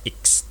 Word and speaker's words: X: Lalu kemudian yang D, maklumat wakil presiden nomor X, itu bukan nomor 10 anak sekalian ya, dibacanya adalah maklumat wakil presiden nomor X tertanggal 3 November 1945.